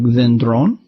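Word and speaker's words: δένδρον: Some are born with an accent on their penult, like dendron.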